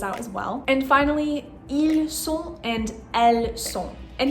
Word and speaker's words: ils: The S at the end of il and elle are still silent.